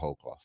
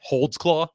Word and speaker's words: Holdsclaw: I think it is Holdclaw. I I can pronounce her name, my last name right Holdsclaw.